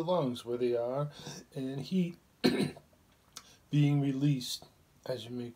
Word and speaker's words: he: the sound for the heart is heat like h e imagine your heart any